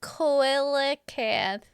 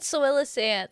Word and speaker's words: coelacanth: Well, okay, it looks like cloaca, but coelacanth. You said soelacanth, so soela koala koala So it's like a seal, but coelacanth.